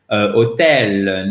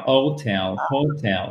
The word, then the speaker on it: hotel: Premièrement, faites attention au H. Deuxièmement, faites attention à la prononciation du O, mais en premier, qu'est-ce que vous allez regarder? La place de l'accent tonique. Vous voyez, ça fait quand même 3 choses pour éviter de dire hôtel. Non, non, non. Donc, c'est tel, hotel, hotel, hotel.